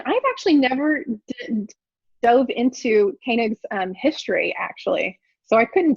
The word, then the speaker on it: Koenig: They next, the Times, the London Times hired, I think you actually pronounce his name Koenig, Friedrich Koenig.